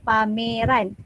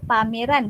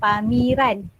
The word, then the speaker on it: pameran: kita tengok bongkal sepatutnya kita Eja sebagai kita sebut pameran Oke kita sebut pameran bukan pamiran ih dengan e-book Eki